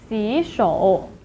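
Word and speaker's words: 洗手: 洗 is supposedly pronounced as the third tone, 洗, but then it is followed by a third tone, 手, so it should be pronounced as 洗手.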